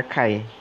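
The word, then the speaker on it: χ: Hai begini Kai terus tanya si gitu Tapi bacanya Kai KYT jadi itu menunjukkan chromatic number atau warna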